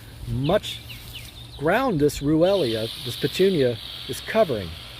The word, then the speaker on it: Ruellia: Technically it's called Ruellia. I'll spell that out for you. R as in really, Stephen. U-E-L-L-I-A. Ruellia.